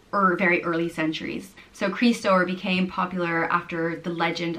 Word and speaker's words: Críostóir: The next name is Críostóir, and it means Christ bearer, and it's pronounced Críostóir, Críostóir.